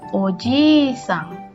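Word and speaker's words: おじいさん: Tapi kalau untuk penyebutan keluarga orang lain itu berubah menjadi ojisang. Di sini ada ir ganda ya berarti dibacanya panjang.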